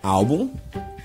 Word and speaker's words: álbum: Nós temos álbum, fêmur, paranoico e heróico. Todas essas palavras, quando nós pronunciamos nós damos mais ênfase, nós colocamos mais intensidade na penúltima sílaba.